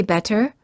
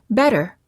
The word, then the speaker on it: better: The T sounds like a fast D sound when it's between two vowels. When a T is between two vowels, it's generally pronounced like a fast D sound. We don't say better, we say better.